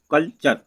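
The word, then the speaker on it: culture: फ्यूचर, सी यू एल टी यू आर ई कल्चर।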